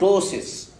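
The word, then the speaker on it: ptosis: having this is called tosis tosis means that the eyelid will close down again there is p is silent tosis tosis okay so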